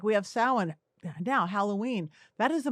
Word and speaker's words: Samhain: we do is halloween is it's actually samhain s-a-m-h-a-i-n but it's pronounced samhain that is the day when the